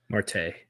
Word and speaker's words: Marte: Mart how do you say his name easy Marte Marte Marte all right who's who wins so